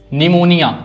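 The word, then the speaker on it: pneumonia: निमोनिया इसमें पी गायब है।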